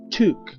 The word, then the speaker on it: took: la forma base entonces la doble o suena como la letra u y se pronuncia tu la forma del pasado